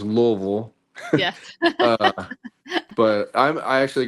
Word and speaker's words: Louisville: the the native Louisvillians would it's pronounced Louisville.